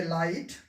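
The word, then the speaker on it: light: तो जी एच का उच्चारण नहीं करेंगे, इसे पढ़ेंगे लाइट, इसको पढ़ेंगे फाइट, ये थॉट, डॉटर।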